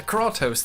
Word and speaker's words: Kratos: When beated in God of War, the player doesn't say, "Oh dear, Kratos, the character over whom I exert control, has been killed."